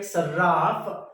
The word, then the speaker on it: Sarraf: Sarraf or Saraf, it doesn't matter, but pronounce it like Sarraf.